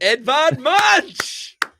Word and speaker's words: Edvard Munch: Give me a It is Edvard Munch.